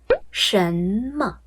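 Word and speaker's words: 什么: 什么，什么，什么，什么，怎么样？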